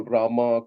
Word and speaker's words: Ram: just like we call Rama, Karna, Krishna. These things come from English influence. The real words are Ram, Krishna, and Karna, like that.